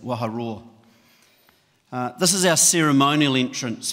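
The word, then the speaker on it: Waharoa: And think of a lion, what a lion does, a lion roars, and that's how we pronounce that, Waha Roar.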